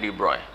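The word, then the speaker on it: de Broglie: हैं में लिखते हैं डी ब्रोग्ली पड़ते हैं डिब्रॉय तो जी और जो है वह साइलेंट होता है ठीक है तो डिपॉजिट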